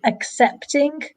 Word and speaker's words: accepting: Also accepting an apology. So just be careful with the pronunciation there. Accepting, it's like an X sound, and making excuses.